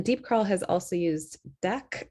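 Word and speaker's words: Deque: curl has also used deck i think is how you pronounce it d-e-q-u-e dot-com they have something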